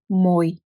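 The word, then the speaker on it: мой: So let's see how you read I kratko. For example, you can say M, O, I, moj, moj, moj. There is difference when you say mo, I. So try to hear it.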